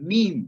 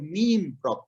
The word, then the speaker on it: meme: word nowadays meme obviously people are still learning to pronounce the word meme properly also some say me me or variety of pronunciations they bring out when they want to say me so we go